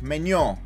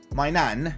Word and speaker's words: Maignan: trying to get s2g to pronounce mainan like menyon like the o in kante okay whatever so i i've i've kind of got what you guys are trying to say it's not my nan that's the meme it